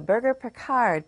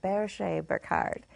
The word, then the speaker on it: Berger Picard: Spotlight Shines on the burger perard pronounced that way in America in France it's the bee Bard this breed is rare